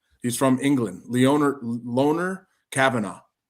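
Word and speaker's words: Lone'er: Leoner Leoner Kavanaaugh.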